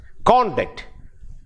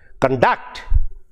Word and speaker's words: conduct: you see the difference conduct first syllable uh can be used as a noun or adjective conduct the stresses on the second syllable and it is used as a verb you should conduct well